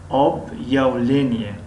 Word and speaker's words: объявление: یعنی حرفی پیش از این علامت کمی غفص تلفظ کرده میشد. объявление объявление объявление объявление.